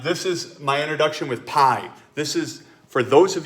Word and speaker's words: pi: It says the ratio known as pi, which is pi, it's pronounced like PIE, was first discovered by the Babylonians nearly 4,000 years ago.